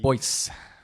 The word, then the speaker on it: Boise: you spell that uh it's spelled like this b o i s e boys yeah a lot of people say like boys or or hey boys okay while while we're